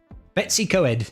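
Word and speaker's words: Betws-y-Coed: Betsy Coed is actually how the English do pronounce it, though.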